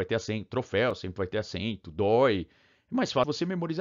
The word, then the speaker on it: dói: falar seu o dói se você não colocar acento no dói você vai falar doido igual você fala boi por quê que boa e não tem jeito que a pronúncia fechada oi e dói dói a pronúncia aberta dói tá herói se acentua